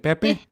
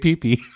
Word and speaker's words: Pepe: Is it Pepe? Yeah, it's Pepe. Okay, I'm saying it right. I was gonna say Pee.